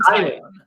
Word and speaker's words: Taillon: Big pitching matchup, and do you know how to pronounce the Yankees? Is it Talon? Jameson Taillon.